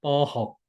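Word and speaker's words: ป.6: 중립 적 인 어조로 " 포혹 " 이라 고 읽어 보세요 . 하강조 로 읽어야 합니다 . 포혹 .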